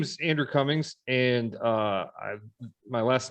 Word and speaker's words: Comings: people spell it but just think of think of the opposite of Goings that's that's how my name is spelled Cummings opposite of going I